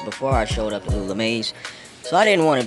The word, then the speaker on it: Lula Mae: Alright, so I gotta ask, who is Lula Mae?